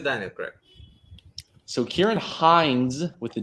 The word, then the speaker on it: Hinds: So Ciarán Hinds with a D is correct. Hines, Hines, is not. So I'm only able to give that point to David. The D is pronounced in the name.